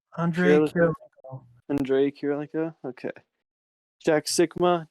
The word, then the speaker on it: Kirilenko: this team consists of Trey Young, Reggie Miller, Julius Irving, AK-47 because I'm scared to pronounce that name wrong. Kirilenko, Andre Kirilenko, Kirilenko.